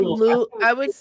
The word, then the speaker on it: Louisville: It's Louisville. I would say Louisville. I would make it 2 syllables, Louisville.